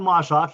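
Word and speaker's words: MARSOC: assigned to is it is it pronounced marshawk where sock he's in mossack he's in special operations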